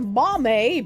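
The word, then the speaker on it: mamey: The pronunciation is mame, BT dubs.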